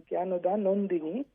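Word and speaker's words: Jnanadanandini: It is apparently the correct word is Gyanoda Nandini, and the Prime Minister pronounced it differently.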